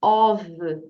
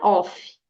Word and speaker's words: of: Mr ta então stud essa palavra aqui of tem um som ali o a letra F tem um som de v Então diga ov ov Alright repete com a teacher ov isso mesmo então não é off né o som é V então ov e você